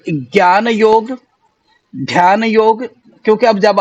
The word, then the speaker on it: योग: America जैसे देश में जाकर के उसका नाम योगा हो गया, और आज भारतीय योगा कहने में कहीं ना कहीं अपने आप को गर्व महसूस करते हैं। जबकि यदि हम संस्कृति में देखें, संस्कृत के निष्ठ शब्दों में देखें और कहीं भी ढूंढे, तो योगा शब्द कहीं भी नहीं आता है।